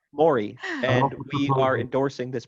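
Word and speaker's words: morae: plural it's m-o-r-a-e and tyler is proposing a pronunciation like maury and we are endorsing this pronunciation i would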